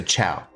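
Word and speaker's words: chào: Oh no, chow is how you say hello in Vietnamese. C-H-A-O, so chow.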